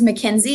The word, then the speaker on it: Makynzie: to spell um but my first name is mckenzie it's spelled m-a-k-y-n-z-i-e and then on facebook i also